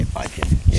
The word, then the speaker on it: Budgeon: You pronounce the farm as Budgeon, is that the way it's pronounced? Because I've been saying Budgeon. Yeah, Budgeon, yep.